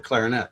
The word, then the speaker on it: clarinet: That is that in New Orleans, you don't play the trombone or the clarinet. You play the trombone and the clarinet. There's a first syllable emphasis on these.